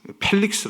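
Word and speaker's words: Felix: 당시의 총 동 아 펠릭스 펠릭스 라고 원래 발음 됩니다 입 lx 가 아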